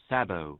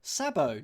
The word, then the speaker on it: sabot: shoe or clog and this is how it's pronounced Sabo Sabo no t as in the Sabo